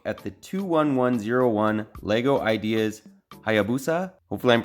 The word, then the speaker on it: Hayabusa: take a look at the 21101 lego ideas hayabusa hopefully i'm pronouncing that right that's how the dictionary says